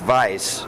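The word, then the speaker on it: Weiss: um because my name my last name in German is pronounced Vice it means White and strangely enough you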